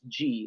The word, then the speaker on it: Gee: Yeah, so my production company is named GEEPAK Entertainment, based on the Inuit word in mushing for turning right, which is G. It's spelled Gee.